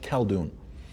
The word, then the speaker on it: Khaldoon: couldn't Browns ha so I became known not as I'll doing which is my name but khaldoon khaldoon is my let's say my American name so khaldoon but you